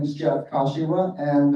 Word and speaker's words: Kashiwa: My name is Jeff Kashiwa, and the last name rhymes with Joshua, sort of, Kashiwa, but you can call me Jeff.